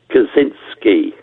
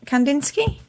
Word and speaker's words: Kandinsky: can't pronounce his name it's kazinski oh is that Kandinsky uh hang on hang